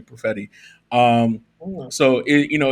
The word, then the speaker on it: Perfetti: ann walter and chris perfetti that's how we say his name profetti um so it you